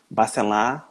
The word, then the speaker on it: Bacelar: Bacelar se escreve com R só no final, tá? As pessoas no Brasil adoram botar Bacelar. Não é Bar. É B-A-C-E-L-A-R.